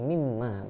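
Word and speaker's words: مما: Oke, keduanya jika ditulis dengan sambung itu jadi mimma begitu saja. Cara membacanya pun memang diidghamkan. Mimma gitu kan. Namun bukan mimma. Iya, gitu, mimma.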